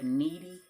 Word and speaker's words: Kneady: that are familiar with the needy homesteader and that's spelled k-n-e-a-d why like kneading bread um there's been a